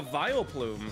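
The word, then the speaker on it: Vileplume: Oh, Sykuno, you look like a vile plume.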